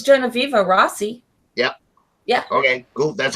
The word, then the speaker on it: Genoveva Rossi: She's really we're friends on Facebook, but I've never heard her speak, so I wasn't exactly sure how to pronounce her name. I think it's Genoveva Rossi.